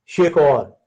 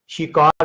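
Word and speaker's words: שֵׁכָר: भी ट्रांसलेट किया गया, ये वर्ड है शेखौर। शेखौर, इसको इंग्लिश में आप SHEKAR शिकार भी कह सकते हैं, लेकिन एक्चुअल जो इब्रानी ज़बान है उसमें शेखौर जो उनसे कहते हैं।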